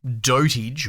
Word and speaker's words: dotAGE: and with this game dotage or dot age depends however you want to pronounce it what we'll do is